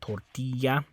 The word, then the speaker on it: tortilla: point this out so the Double L makes like that Y sound the ya sound tortilla okay but now it